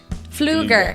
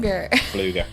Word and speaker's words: Pfluger: And speaking of Congressman Pfluger? Fluger. I looked it up. Pfluger. Not a word I am used to pronouncing.